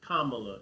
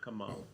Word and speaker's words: Kamala: It's Kamala, it's not Kamala.